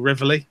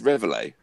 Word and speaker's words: Reveille: And what the Americans call Reveille, even though it's nowhere near the pronunciation, but there we go. Reveille. Or Reveille, because it's French. It's the bugle call. It's Reveille. Yeah, but it's a French. It comes from the French word. Yeah, but it's French. I believe the appropriate pronunciation is Reveille.